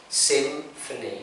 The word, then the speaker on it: symphony: So if you find the word, an English word with P and H, we pronounce it as F. So the sound turns F, yeah? Symphony, symphony.